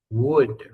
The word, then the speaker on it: would: Vamos a pronunciar. Con la D al final, la L no suena, ¿ya? Would.